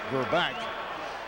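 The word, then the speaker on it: Grbac: And also told us that the actual pronunciation of the last name is Gerback, as we have been trying to say throughout the afternoon.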